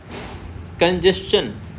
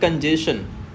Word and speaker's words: congestion: शन तो auto सजेशन next word है कंजेशन नॉट कंजेशन कंजेशन अब देखिए देखेंगे यहां पे कन हल्का कहना है और इसका मतलब होता है आपको स्ट्रेस देके पढ़ना है। यहां पे थोड़ा लाउड पढ़ना है। कंजेशन कंजेशन उसके बाद में लास्ट में क्या आ रहा है? चन आ रहा है ना कि शन आ रहा है।